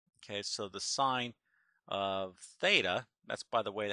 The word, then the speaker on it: theta: Okay, so the sine of theta, that's by the way how we pronounce that little variable, is the opposite, which is y, over the hypotenuse, which is r.